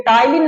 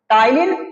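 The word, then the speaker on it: ptyalin: यहां पे ध्यान दीजिएगा ये टाइलिन नाम है क्या नाम है इसका टाइन प साइलेंट है बेटा प को नहीं पढ़ना है आपको टाइलिन और डायस्टेस ये दो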